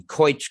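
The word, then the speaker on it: Keutsch: is the couch well i imagine it's pronounced like my name coich group at harvard right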